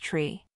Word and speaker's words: three: 5 is typically pronounced Fife and three is pronounced tree for this question the